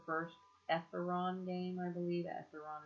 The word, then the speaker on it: Etheron: Etheron is how you pronounce it, which is a cryptocurrency.